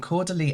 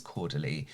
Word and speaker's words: Caudalie: What I will say, with all credit to Caudalie, I've been saying it wrong this whole time. I think it's Caudalie.